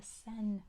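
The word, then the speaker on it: Seine: out very good the sen River the sen spelled like this sen is how it's pronounced that's how it's spelled s i n e sen that is how you say it in French too it is the sen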